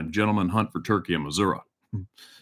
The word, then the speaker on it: Missouri: email me in how to pronounce words Beach Missouri Missouri missoui first time I ever hunted in the US was Missouri but everybody called it Missoura and I sck get this one and it's